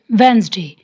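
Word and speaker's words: Wednesday: इसको हम प्रोनाउंस करेंगे वेंसडे, डी इसमें साइलेंट है।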